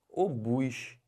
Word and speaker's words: obus: que fala isso aqui o bus não é ovos não é OBS é obus e o que quer